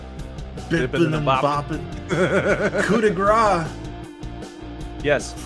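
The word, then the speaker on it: coup de grâce: I cannot stand when they call it the coup de grace. Yeah, no, you don't pronounce the C.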